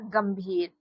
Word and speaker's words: गंभीर: जब बच्चों इसका उच्चारण म के रूप में हो तो इसके लिए अंग्रेजी लिखते हैं एम।